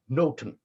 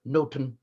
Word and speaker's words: noting: N-O-T-H-I-N-G was pronounced noten, but N-O-T-I-N-G, noting, taking note of, or back then eavesdropping, the core of the plot, was also pronounced noten.